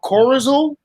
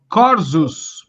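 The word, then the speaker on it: Korzus: I think they're called Corazon. I think they're very good, but outside of, how do you say it? Corzus.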